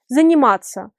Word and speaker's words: заниматься: Et cette combinaison de lettres se prononce comme tsa, tsa, tsa, comme pizza. Заниматься.